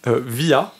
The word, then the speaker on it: Viy: de son ouf d'accord je crois que ça se prononce via V i y et en fait parce que au moment dans le film elle Divia elle le crie donc je pense que ça se prononce comme ça mais donc c'est Vy